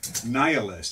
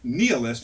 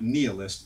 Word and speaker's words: nihilist: here so dear Volodya Nia list is pronounced the way i pronounce it Wilson writes not nealis see any dictionary they also exchanged letters